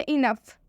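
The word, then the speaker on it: enough: एक और एग्जांपल है इनफ इनफ में भी ओ यू के साथ आया हुआ है इसलिए इनफ में भी ओ साइलेंट हो जाएगा ओ का उच्चारण हम नहीं करेंगे इनफ का मतलब होता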